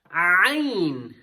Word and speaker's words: عين: ظا, ain. Sometimes people they struggle in ain. Make sure that it's coming out with the throat letter.